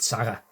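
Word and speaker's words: Sarre: over printed um with Sara S r e. That's a French way of pronouncing it.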